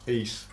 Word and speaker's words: Ys: East. East. East, yeah. Pronounce it properly, motherfucker.